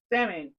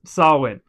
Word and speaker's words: Samhain: at the end of this month no it's samine sawin no samine it's pronounced sawin look how it spelled s s s s